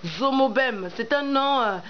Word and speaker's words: Zomo-Bem: la radio Afri AF j'ai bien prononcer votre nom oui merci ça c'est important parce qu'ailleurs on dit Zogo j'ai dit zomobem c'est un nom à